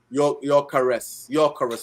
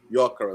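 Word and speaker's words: Gyökeres: Your caress. I think the G is silent. If I'm right, your caress. Yeah, G is silent. Yeah. Your caress. Yes, your caress.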